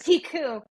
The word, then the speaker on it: Picoult: And then It's pronounced yes. Picoult.